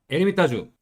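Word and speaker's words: Ermitage: 엄청 많아요 크루즈를 있잖아요 애미 따 주 별표 3개 h 빼고 표기 가능 하 될까 프랑스는 h 가 묵음 이에요 묵음 h 를 써도 되고 h 안써도 되요 왜 이 붙어서 됐네요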